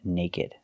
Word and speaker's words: naked: remember these two words they are pronounced like they look with the ed sound they're not verbs they're adjectives crooked and naked thanks for watching and